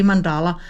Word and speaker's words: mandala: lot of people say mandala, but in Danish we actually say it and pronounce it mandala with a pressure on the first syllable.